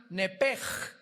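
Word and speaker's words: נפש: en el hebreo es nepesh, se pronuncia nepej, la CH en hebreo se pronuncia como J, nepesh, murió.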